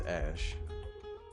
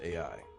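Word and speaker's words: Æ: the mother than Elon Elon says it's pronounced as ash and she says yeah it's ash okay and she says that it's pronounced as as as AI coming here AI come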